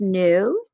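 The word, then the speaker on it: ν: right hand side on the top this is pronounced new this is frequency the unit for frequency so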